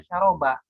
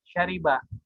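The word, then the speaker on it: شَرِبَ: kemudian kata syariba ya ini tidak dibaca syaraba tapi dibaca syaribah karena orang Arabnya yang asli baca syaribah yang aslinya kemudian eh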